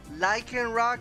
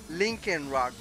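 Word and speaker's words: Lycanroc: rock write his name you pronounce it like in rock right but when I first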